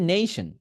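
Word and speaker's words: nation: এরপর আসেন এইটা হচ্ছে নেশন এটাকে কি বলে নেশন নেই নেই নেশন কথা হচ্ছে এইটা নেশন বাট যখন আপনি ন্যাশনাল বলতেছেন তখন বলবেন ন্যাশনাল ন্যাশনাল ন্যাশনাল একটা নেশন একটা ন্যাশনাল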